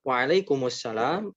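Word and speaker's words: وعليكم السلام: mendoakan balik nah Hai untuk pelafalannya yang betul adalah wa alaikumus salam alaykum us kenapa Karena di waalaikum itu Meme nya mati harusnya sukun kemudian as-salam disitu ada alif lam syamsiyah tentunya Karena disana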